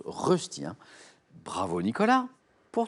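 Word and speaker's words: Rösti: Rosti.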